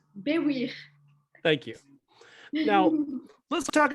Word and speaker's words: Baiwir: Can I get a pronunciation on your last name? Yes, sure. Good luck. It's it's Baiwir.